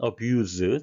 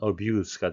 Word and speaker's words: abuse: abuse, 동사로 쓰일 때는 abuse, Z 발음이 되겠고요. 명사로 할 때는 abuse가 되겠습니다.